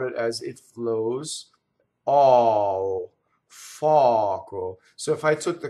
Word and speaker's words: foco: Now, if I said fɔco, that would be wrong. That would be two K's. That would be a double C, right?